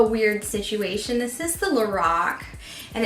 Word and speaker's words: Lorac: I called you know cuz lorac is karol backwards and that's the of a woman that founded the brand um and when you don't hear anything said you know sometimes you know how to say it so like until like last year I swear I said lorac because lor a lor a see that's what kind of looks like lorac right so I went